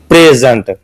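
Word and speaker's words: present: sorry noun बन जाएगा अगर पहले हिस्से प कम जोर दिया जाए और दूसरे हिस्से प ज्यादा जोर दिया जाए तो ये वर्ब बन जाएगा जैसे कि प्रेजेंट य नाउन है और अगर मैं क प्रीजेंट तो फिर यह जो है ना यह वर्ब बन जाएगा इस तरह यह जो स्ट्रेस है यह वर्ड की कैटेगरी को चेंज कर देता है नाउन है य वर्ब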